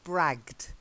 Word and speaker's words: bragged: nice that's it and bragged this is in the past but it's a silent E ok bragged yeah yeah so we've